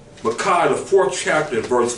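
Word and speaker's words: Micah: of Yahweh forever and ever that's according to Makai the fourth chapter in verse 5. um curia for the readers for the for the viewers please read her Makai the fourth chapter verse 4 Makai the fourth chapter in verse five okay Makai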